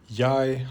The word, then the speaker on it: jeg: Danish also has the change from eka to, in the medieval language, yak, becoming modern yai, also with the G silent.